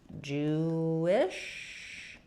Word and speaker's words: Jewish: So in the word Jewish, we have the U vowel for letters EW and the J sound, first syllable stress, Jewish, and then the so an I vowel and a sh sound.